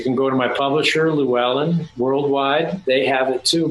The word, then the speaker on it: Llewellyn: I've always called it Llewellyn for years. I've been reading their books since I was 13 years old. Llewellyn. Wow, the correct pronunciation.